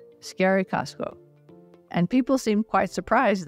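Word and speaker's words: Eskerrik asko: the word scary and then add to that the word Costco as in the large Us store so we went around saying scary Costco scary Costco and people seemed quite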